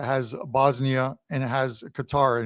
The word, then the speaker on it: Qatar: Bosnia, and it has Qatar in it or Cutter as people would say. Uh the proper pronunciation of it is Cutter or are not a threat in this group.